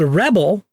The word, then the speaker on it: Rebble: there's this group called Rebel which is kind of funny right Rebels Pebble Rebel uh it's spelled like Pebble with an R Rebel and this group